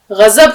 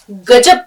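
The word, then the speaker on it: غضب: अब देखिए लफ्ज आया गजब, गजब कोई लफ्ज नहीं होता। अक्सर करके इसका उच्चारण जो है वो हमें गलत सुनने को मिलता है, गजब कहते हैं लोग, लेकिन गजब।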